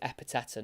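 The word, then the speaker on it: Ekpiteta: for um for Blackpool it's a silent k I couldn't believe it I was trying to work out how he say his name I was like eeta but I've heard him say his name and that K was certainly silent so it is EPA not not Etta or anything like that so it's back with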